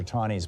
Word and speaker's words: Taney: Not that I'm any fan of Roger Taney's, but people typically mispronounce his name.